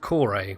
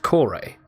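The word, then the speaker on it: Kore: been taken from that and therefore it would be pronounced the Reliant core a well I very much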